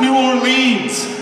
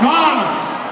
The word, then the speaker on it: New Orleans: It's not New Orleans. It's New Orleans.